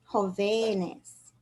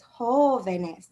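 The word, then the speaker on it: jóvenes: need an accent mark then we pluralize it it becomes whole venus now we need the accent mark there so that we don't say jovenes it's hoveness the long sound is still on the o so although the v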